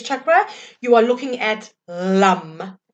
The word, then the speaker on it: Lam: So if you're wanting to connect in with your seed sound, with your base chakra, you are looking at LUM. LAM, pronounced LUM.